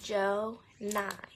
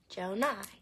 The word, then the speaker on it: Jonai: My real name is Jonai. Jonai. And I see a lot of people spell it J-O-N-I-A.